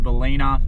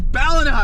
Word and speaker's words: Ballina: So we've gone through Ballina and Lennox Head. Lennox. Just joking. Everyone that knows the area would have been like, it's Ballina. They would have been on the couch. It's Ballina.